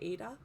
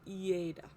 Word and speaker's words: Ada: I always want to say Ada, but it's Ada.